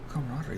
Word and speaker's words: camaraderie: we do that ooh camaraderie that's like four syllables five okay my math is